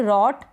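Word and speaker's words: rote: Same ऐसे ही यह है रट। क्या है? रोट। यहां पर ये जो लास्ट में इ है इसका उच्चारण नहीं होता।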